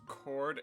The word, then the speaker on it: chord: note E is silent chord H is silent treble e is silent